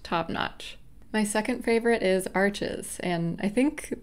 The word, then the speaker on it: Arches: my second favorite is Arches and I think the correct pronunciation is actually something like Arch but I'm probably butchering that that's um also 100%